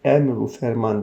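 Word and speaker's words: emr ü ferman: Ferman tamlamalı Vav var emr ve Ferman yazılır emru Ferman diye okuyoruz nun burada Hazreti Evet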